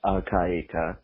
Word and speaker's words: al-Qaeda: me forward idea but uh it's just simply pronounced al-qaeda the first book a is very well pronounced